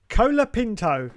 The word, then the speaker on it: Colapinto: that's actually quite informative it's Franco Alexandro colapinto that's his name if you phonetically spell